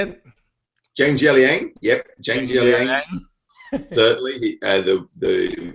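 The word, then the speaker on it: Jiang Jialiang: Zhang Jialing, yep, Zhang Jialing.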